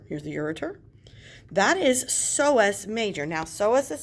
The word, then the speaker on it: psoas: That is psoas major. Now, psoas is spelled with a P-S-O-A-S.